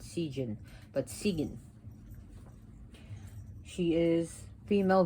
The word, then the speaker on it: Sigyn: Her name is spelled S-I-G-Y-N. It is pronounced Sigyn, not Sigyn, but Sigyn.